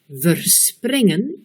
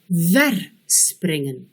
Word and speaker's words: verspringen: Il en est de même pour verspringen, on met l'accent sur la deuxième syllabe. Verspringen, on met l'accent sur la première syllabe et le E initial est prononcé comme un E. Réécoutez, verspringen, verspringen.